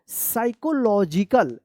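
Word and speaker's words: psychological: साइकोलॉजिकल। क्या पढ़ेंगे? साइकोलॉजिकल। यहाँ पे भी साइलेंट पी है, यहाँ पे भी साइलेंट पी है। क्यों? क्योंकि एस से पहले पी आया है, ठीक है।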